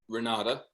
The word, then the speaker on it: Renate: Renata. Renata. It's spelled with an E at the end, R-E-N-A-T-E.